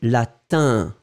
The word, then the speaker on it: latin: Non, Romande, le « in », hein, c'est vraiment une nasale, d'accord ?